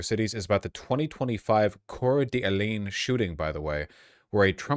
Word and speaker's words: Coeur d'Alene: firemen off ladders in the inner cities is about the 2025 Coeur d'Alene shooting, by the way, where a Trump supporter in rural Idaho set a fire to lure firefighters and ambush them.